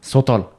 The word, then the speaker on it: Southall: What English? English first, yeah. Southall. Right. And that becomes? Sotol. It's so good. Southall jana ji. Southall.